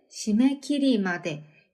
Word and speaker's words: 締め切り: けどどうやって 자, 일단 마감까지 시메키리마데. 약간 이거 간이상 스메키리 때문에 끼리라고 하는 경향이 있는데 그냥 시메키리, 키로 발음하셔야 돼요.